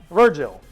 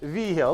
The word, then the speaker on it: Vigil: and they'll call me Virgil. All right, easy enough or enough. But the way it's pronounced is Vigil. At least that's how my family pronounces it, is Vigil.